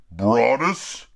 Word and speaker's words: Broadus: is from the brand Broadus Foods I believe I'm pronouncing his last name right you know like as in Calvin brought us all right this is